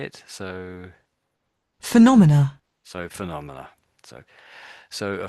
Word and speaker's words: phenomena: So phenomena with the a is sort of like the plural when you have lots of phenomena.